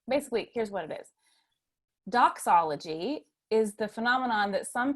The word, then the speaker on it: Dachsology: So dox, not It's a little extra phlegm in it. Doxology. And so it's not the DOX that we usually see in the church, but dox.